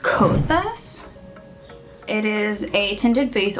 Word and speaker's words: Kosas: So first up, I am going to use, I believe it's pronounced Kosas.